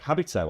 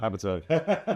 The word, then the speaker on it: Habito: Habito. I keep saying it wrong. Habto nailed it.